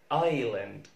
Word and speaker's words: island: حرف الاس لو وجدنا اس ال في الكلمات الآتية لا ننطق الاس زي كلمة island island island. ما اسمهاش لا ايسلاند ولا ايزلاند ولا ايزلاند، اسمها island island.